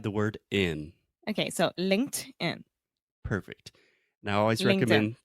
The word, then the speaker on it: LinkedIn: LinkedIn nice very good an American would understand that and if you said linkaging he would have no idea that's a point we